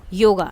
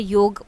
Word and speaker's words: योग: ही India में जो योग योगा अभी हम इन्हें बोलने लगे हैं। पहले हम इनको योग बोलते थे। ठीक है? योग ही इसका सही प्रोनाउंसिएशन है।